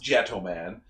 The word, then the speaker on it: Jetman: And of course it's pronounced Gentleman.